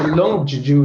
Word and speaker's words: Long Juju: Juju or land Juju long l-o-n-g yeah so long Juju is the way that the evil so is the way that that the British pronounced it pronounce the the so it's along